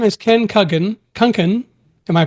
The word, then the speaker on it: Kunken: Kungan. Am I pronouncing that right?